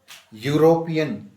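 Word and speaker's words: European: यूरोपियन यूरोपियन की spelling क्या है? ई यू आर ओ पी इ एन। लेकिन साउंड देखनी है। वर्ड नहीं देखना कि हमने वोवेल नहीं देखने। हमने साउंड देखनी है उनकी। वोवेल साउंडिंग होना चाहिए।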